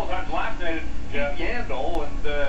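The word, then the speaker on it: Yandle: We saw it a couple of times last night at Yandel, and it's perfect because his name rhymes with handle, and he was having all kinds of trouble handling the puck here tonight.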